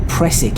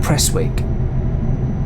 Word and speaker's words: Prestwick: think it is because the normally the w in that is is silent so it should be pressik airport not press wig and uh kilmarnock it's